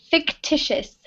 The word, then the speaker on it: fictitious: One correction on the pronunciation. This word is fictitious.